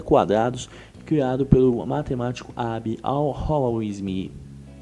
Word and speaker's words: al-Khwarizmi: método de completar quadrados criado pelo matemático Abbe al-Khwarizmi. É assim se pronuncia?